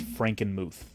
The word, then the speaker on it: Frankenmuth: so the city is the city is called Frankenmuth it's a German Town sure and like I